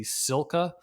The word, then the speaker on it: SILCA: A great resource to find out exactly what is best for you is the Silka uh, tire pressure calculator. Silka is a manufacturer of bike accessories. It's spelled SILCA.